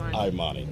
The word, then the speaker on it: Imani: it's Imani, Yes, Imani.